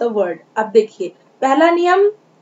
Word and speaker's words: knee: यहाँ पर KNEE, KNEE, इसको हम के नहीं पढ़ेंगे। के जो है वो साइलेंट लेटर है, यहाँ इसे हम पढ़ेंगे N से, नी, नी यानी घुटना, नी।